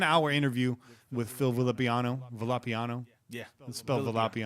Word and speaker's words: Villapiano: interview with Phil villapiano's villapiano's yeah let's build a lobby on oh okay but people say villapiano's see I almost want to pronounce that that double owl in Spanish via peon oh yeah you know